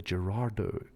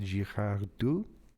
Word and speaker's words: Girardeau: look at is the I believe Americans pronounce it the Gerardo incident, but it's written in French, so even though it's in Missouri, I believe the French would pronounce it Girardeau, maybe.